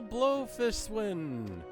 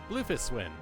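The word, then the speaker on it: Bloefhiswyn: my tastes may i present to you admiral blowfish win blowfish win i think it's pronounced some some i think it's pronounced differently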